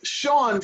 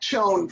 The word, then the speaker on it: Chone: Poots, not Putz, and it's Sean Figgins, not Chone Figgins.